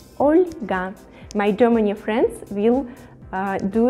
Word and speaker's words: Olga: this name oscar olga olga with the soft pronunciation the letter el olga my germany friends will